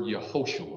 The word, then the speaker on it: Yehoshua: You know what Jesus is in the Greek? It's the word Yehoshua. That's how it's pronounced.